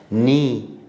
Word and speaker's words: knee: For example, look, knob, K is silent, no, N is silent, knee, K is silent, knife, as you know, K is silent.